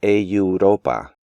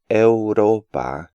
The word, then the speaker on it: Europa: English speakers tend to insert a yod sound between the E and U in this word, pronouncing it like Europa, and they almost always break up these words into deuda and neutro.